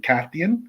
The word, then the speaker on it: Cathian: Cathian? Cathian. Cathian. So Cathian. Cathian from the Cathians. It's got a cadence to it. Cathian. Every vowel is there for a reason.